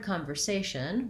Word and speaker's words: conversation: of my videos so in the word conversation we have second to last syllable stress that means the a is long and the other syllables are shorter and this is a